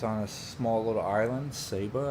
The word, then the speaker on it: Saba: a small little island Saba I think is pronounced sa ba and um over in